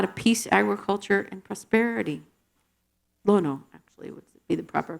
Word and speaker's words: Lono: over here and there's the Temple dedicated to Lano who is the hawan God of Peace Agriculture and prosperity Lono actually would be the proper pronunciation across the